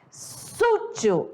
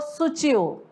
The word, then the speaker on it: sutil: Segundo exemplo, sútil ou sutil? É claro, né? Sutil.